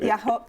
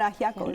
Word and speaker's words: ajiaco: can tell you, she's going to have to pronounce it for me. I can also help you. The soup was incredible. Was it ajo? No, you had ajiaco as It well.